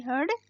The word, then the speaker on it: heard: दोनों की स्पेलिंग अलग है, दोनों की मतलब भी अलग है, लेकिन इनका प्रोनाउंसिएशन एक ही है, लेकिन हम इनका उच्चारण एक ही करेंगे। इसका मतलब भी हर्ड बोलेंगे और इसे भी हर्ड बोलेंगे।